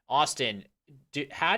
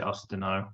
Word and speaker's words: Austinho: I say it Austinho. Is that like Mourinho or other? Help me with that because I'm too American. No, no, you're exactly right. That's how it's meant to be pronounced. I know a lot of people would just say Ostino, but But yeah, you got it exactly right.